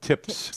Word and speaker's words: TIPS: to pronounce that properly tips I'm going to enunciate the p tips are treasury inflation